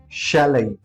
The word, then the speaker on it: chalet: CHALET. How do you pronounce it? Well, I guess like you would have just tried, but still you need to understand the right pronunciation. We call it chalet, chalet.